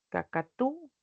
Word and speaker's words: cacatúa: Acá no hay cacatúa. Acá sí. Kacatu. A la u se vuelve tónica, ¿no?